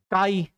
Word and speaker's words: chi: इसको प्रोनाउंस करते हैं, प्रोनाउंस्ड एज काई।